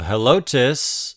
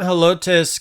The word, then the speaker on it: Helotes: for corn cob and being a Spanish word you can drop the H from the pronunciation although there are a lot of folks who generally keep it in there they are proud